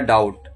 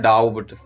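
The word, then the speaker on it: doubt: तो जब भी टी से पहले बी आए जैसे यहां पे दिया हुआ है डाउट। इसे पढ़ा जाता है डाउट। लेकिन कुछ लोग पढ़ते हैं डाउब्ड। तो ये गलत है। तो सही प्रोनाउंसिएशन इसका है डाउट।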